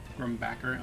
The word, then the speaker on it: Grumbacher: The H is silent. Grumbacker.